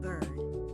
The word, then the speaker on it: bird: Bird. The ir makes an er sound, like word and heard.